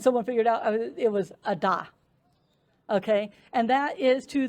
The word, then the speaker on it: Ada: This other day trip is to a town called Ada. Don't call it Ada. I made that mistake and they were like, what are you talking about? And someone figured out it was Ada.